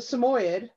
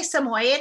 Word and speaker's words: Samoyed: so she is a samoyed right yes yes am i pronouncing that properly uh some people say samoyed and some people say samoy you say what you like okay well it's lovely